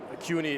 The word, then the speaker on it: CUNY: about being at at uh cuni at at this time you know that's how you say it CI yes okay that's how I say it all right well we're